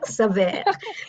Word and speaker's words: Saveur: I think it's Savor. The American savor. Yes. I thought it was French. Saveur.